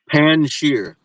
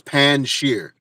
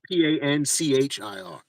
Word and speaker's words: Panjshir: It's it's Panjshir. it's it's it's pronounced how it looks, like pan, and then there's a short J and then sheer. Like the J is almost not pronounced, but it's Panjshir.